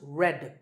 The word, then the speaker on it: read: spelled re ad but pronounced red like the color of red so you might be